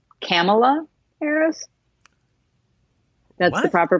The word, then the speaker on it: Kamala: to pronounce her name Kamla Harris that's the proper pronunciation canola camel oh so she's Pamela except with the K yes okay camel so